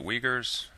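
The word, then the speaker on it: Uyghurs: where China's Muslim minority lives they're called the Wagers w I'm sorry u g h e r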